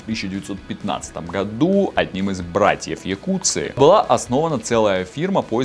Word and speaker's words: Jacuzzi: стоит имя американского производителя кстати правильно не должно было быть не джакузи а якутск так как у создателя массажные ванны было итальянская фамилия которая производится какие курсы